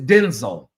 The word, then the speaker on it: Denzel: Denzel Washington and said, "Y'all have been calling his name wrong all the time. All the all along." Said, "Mary Agnes, Mary Jean, Mary, who gives a damn?" Okay, so his name is Denzel.